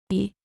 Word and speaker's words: et: To say and in French is Et. Et. the letter t at the end is not pronounced.